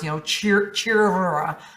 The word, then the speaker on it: Chira: But like I said, the R is kind of like a rolling R, like cheer, like the dragons roll their R's, Chira.